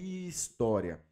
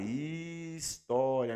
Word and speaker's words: história: Porque o H ele não tem som. Beleza? Então, ó a diferença aí. Tá vendo como é que é diferente? Então, aqui, ó, o H ele não transmite som. O som ele começa do i, tá? Do da semivogal i.